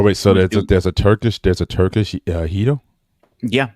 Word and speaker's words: gyro: It's definitely I pronounce gyro wrong. I know it's Hito, right?